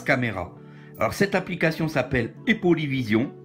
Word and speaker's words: Aipoly Vision: Alors cette application s'appelle Epolyvision. Epolyvision s'écrit A-I-P-O-L-Y, vision plus loin.